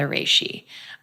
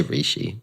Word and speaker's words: reishi: So recently my favorite has been the reishi. Is that how you pronounce it? I know it's pronounced either way. It's ways. a Japanese name. Nobody does it right. Reishi. Rishi, whatever. I just say rishi.